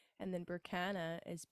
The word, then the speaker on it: Berkana: the same page yeah so my first name is spelled k a y l e i g h and then berkana as b e r k a n a